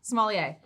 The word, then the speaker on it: sommelier: being, I'm going to mess it up, a sommelier. Oh, you had it. Sommelier? You had it. Yes. Sommelier. I own a restaurant, so I should really have that pronunciation down.